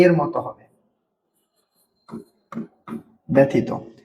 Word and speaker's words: ব্যথিত: জফালার উচ্চারণ এ এর মত হবে ব্যথিত।